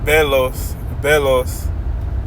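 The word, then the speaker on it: βέλος: It reads, it's pronounced belos, and it means a missile, dart, javelin, arrow.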